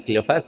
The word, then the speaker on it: Cleofas: Unos lo pronuncian como Cleofas. Bueno, de hecho creo que sí es Cleofas porque lleva acento.